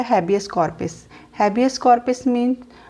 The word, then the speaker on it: habeas corpus: तो रिट्स के जो नेम है वो लैटिन लैंग्वेज में है, इसीलिए इनकी जो प्रोनाउंसिएशन है वो इंग्लिश से थोड़ी डिफरेंट रहेगी। तो फर्स्ट जो रिट है वो है हैबियस कॉर्पस।